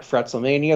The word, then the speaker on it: FretzleMania: You can follow me on Twitter and Instagram at FretzleMania. That's FRETZLE Mania. My podcast. Yeah, the proper pronunciation, by the way.